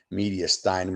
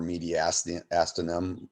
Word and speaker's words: mediastinum: It also lines the mediastinum or mediastinum. Both ways are correct pronunciations.